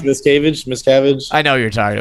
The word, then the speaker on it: Miscavige: Pronounced Miscavige.